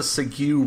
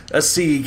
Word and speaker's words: segue: That's a segue right there. That is a segue. A sieg. Yeah, I called it sieg up until like halfway through high school.